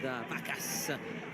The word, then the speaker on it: Vacas: comfortably saved, I'd say, there by Gerard Vacas. Let's go back to what about, Vacas sounds a really, rhyme with, cows. Cow. Yeah, cows, plural. Exactly.